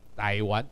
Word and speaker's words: 台灣: 啊，后叫做台湾 T Y A，不是 T A I。台湾，这发音台湾，这是 1662